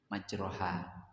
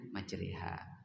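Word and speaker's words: مجراها: Tulisannya majroha. Bacanya majriha.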